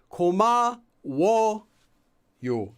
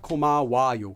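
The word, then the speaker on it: 고마워요: Koma wo yo, not koma wa yo.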